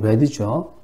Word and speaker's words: read: 그 장교가 read. 발음이 red죠.